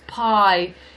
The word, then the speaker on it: paille: That's how you pronounce straw in French, P-A-I-L-L-E. It's pie is your pie.